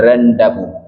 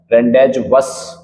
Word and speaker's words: rendezvous: Pronunciation भी जान लीजिएगा, इसे क्या बोलते हैं, रेंडेबू। रेंडेज वस सा नहीं बोल रहे हैं आपको, ठीक है, रेंडेबू क्या बोलोगे, रेंडेबू।